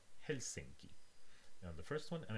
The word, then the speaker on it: Helsinki: uh to the last just languages were the uh stress falls on the first syllable for example in finnish we have helsinki now the first one